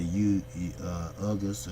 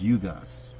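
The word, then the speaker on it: Ugás: You have an up-and-coming fighter from Cuba, Ugas. That is the correct pronunciation. A lot of people say Ugas or whatever, but it's Ugas. He's a great fighter.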